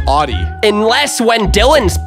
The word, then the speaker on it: Audi: But that's pronounced Audi.